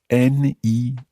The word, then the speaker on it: negli: Abito negli Stati Uniti. It's spelled Negli. So that GL is the same GL that you hear in the word tagliatelle.